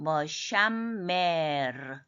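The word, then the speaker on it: מְשַׁמֵּר: 맴에 또 중복점이 있으니까 하나는 샤의 받침으로 내려와요. 그래서 샴메르, 샴메르.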